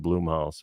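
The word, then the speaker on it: Blumhouse: I think was a Blum House film or is pronounced bloomhouse um that you know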